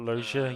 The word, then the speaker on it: Loggia: how you pronounce that? Robert Loggia, yeah.